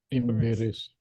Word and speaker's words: embarrassed: Embarrassed. Yes, cara ucapannya embrace ya, embrace. Embrace. Yes. Jadi ujungnya ini karena id, jadi kita ada bunyi i-nya sedikit, embrace.